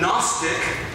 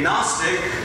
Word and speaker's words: Gnostic: So when you meet a Gnostic with a capital G that's silent, you meet a Gnostic, then you're meeting someone who is pursuing knowledge.